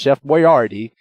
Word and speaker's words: Chef Boyardee: Boyardee was still around and yes it is pronounced Chef Boyardee I would seriously name my child Chef Boyard